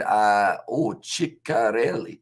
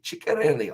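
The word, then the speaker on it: Ceccarelli: I'll help out with the forwards' names, pronunciation Amish. It's Fischetti, Lukeshi, and Ciccarelli. Ciccarelli.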